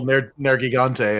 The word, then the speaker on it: Nergigante: The official Nergigante, and then I was like, okay, I'll start saying it that way.